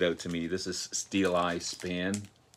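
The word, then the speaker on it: Steeleye Span: to me this is steel eye span i was calling them steely span not to be confused with steely dan but this is steel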